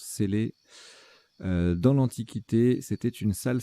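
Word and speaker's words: cellae: Alors, je dis Célae, mais ça se prononce Célé, S-E-2-L-A-E, se prononce Célé.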